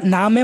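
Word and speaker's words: Name: ইংরেজিতে আপনারা নেমেই পড়তেছেন বানান কিন্তু সেইম কিন্তু উচ্চারণটা ভিন্ন হয়ে গেছে এটা হচ্ছে নেম ইংরেজিতে আর ডে হচ্ছে এন এটা উচ্চারণ হবে তাহলে নামে নামে এরকম হয়ে যায় আমরা প্রোনাউন্সিয়েশন গুলা দেখব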